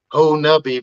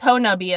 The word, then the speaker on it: Honobia: and I was like, oh, it's Honubia, and they're like, well, there's like 10 different ways to pronounce it, and I was like, not if you're from there.